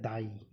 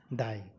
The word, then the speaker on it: thy: THY, इसका जो pronunciation है, मतलब इसका उच्चारण, वो है दाई। क्या है? दाई।